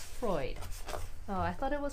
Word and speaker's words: Freud: were just going through this book Freud it's pronounced Freud Oh I thought it was pronounced fraud uh yeah sounds like chiropractors or acupuncture maybe